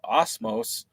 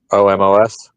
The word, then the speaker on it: Omos: Superstars appear on their programming most recently uh Osmos is that how you say it Osmos has uh won Theos yeah omos yeah he he recently won the W the